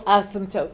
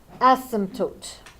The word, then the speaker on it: asymptote: us find the horizontal asymptote with its silent P what is the horizontal